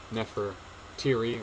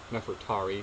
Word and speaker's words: Nefertari: So Nefertiri, or Nefertari, depending on how you say it.